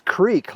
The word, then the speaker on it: creek: to go back and yes I say Crick I'm from Montana some people write in they correct me go it's Creek like I don't know how it's spelled you know now in Montana we say Crick it's like when I